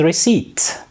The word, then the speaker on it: receipt: Well, the noun from receive is receipt. And pay silent. Yes, it's receipt.